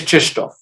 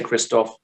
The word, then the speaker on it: Krzysztof: And it is Krzysztof, just so you know. I know we say Christoph, like I said, but I have it on good authority that you pronounce it Krzysztof.